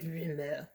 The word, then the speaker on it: Rumeur: I thought it might be rumeur, but when I did the Google how to pronounce, it just said rumeur.